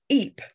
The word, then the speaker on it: Ypres: William of Ypres was a horrible little creep. Isn't it amazing how Ypres rhymes with creep?